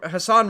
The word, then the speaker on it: Hassan: Um Hassan Hassan rhymes with Hamas.